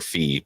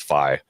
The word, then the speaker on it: Fi: Is this the beginning of I always called her Fee, but I guess her name's Fi. Yeah, technically it's Fi. Yeah, the pronunciation with the Japanese word that would be Fi.